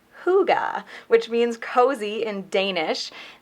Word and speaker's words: hygge: my email from Sirk this is pronounced hygge which means cozy and